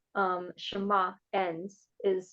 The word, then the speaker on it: Shema: and that's how um shama ends is so it has like a almost a cup of pending when you say it so you do like